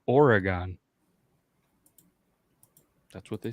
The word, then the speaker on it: Oregon: even the Foreigner gets it right Matt how Oregon yeah Aragorn wait who's who's pronouncing it Aragon or whatever oh yeah who would say Aragon